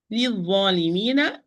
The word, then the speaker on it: للظالمين: للظالمين. This lam is lam shamsiyya, or the not pronounced lam, because dha is not a letter of the sentence.